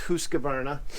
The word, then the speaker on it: Husqvarna: They'll either send you a Husqvarna, and yes, I'm saying that right, it's actually pronounced Husqvarna, or a Stihl.